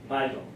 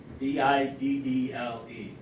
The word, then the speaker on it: Biddle: And going with the bank war, second part of the question, who was Nicholas Biddle? B-I-D-D-L-E.